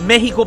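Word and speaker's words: México: Actually pronounced Mexico, pero whatever.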